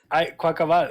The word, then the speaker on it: Quaquaval: Quaquaval. It's Carnival. Carnaval. Quaquaval. Quaquaval.